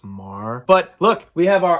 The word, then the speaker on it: Meagher: Brigadier General Thomas Meagher, whose troops had placed his name's actually pronounced Thomas Marr.